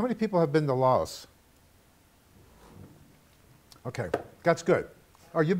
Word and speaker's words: Laos: Okay, and actually, Laos is pronounced Lao by the Lao people.